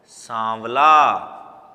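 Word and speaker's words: साँवला: मैं देखो एक बार मेरा जो प्रोनाउंसिएशन है ना उसकी तरफ नोट करना। मैं बोल रहा हूं इसको सा नहीं बोल रहा हूं, सांवला, सांवला। चंद्र बिंदु लगाते ही इसके उच्चारण में फर्क आ जाता है, और उस फर्क का हमें हमेशा ध्यान रखना है बोलते समय।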